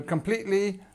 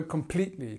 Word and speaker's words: completely: So completely, we've got this long verb here, we've got the li sound, and we've got our schwa. This is the important one. So remember, this is where the stress starts.